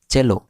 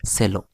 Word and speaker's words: cello: like a large violin don't get confused with the pronunciation it is cello not cello right and the orchestra